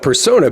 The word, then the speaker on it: Persona: Which would you We call it Persona.